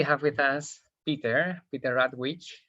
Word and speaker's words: Rawitsch: with us peter peter radwich am i pronouncing your surname well that's excellent thank you and we